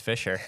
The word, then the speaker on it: Fisher: It's the same way. It's Fisher.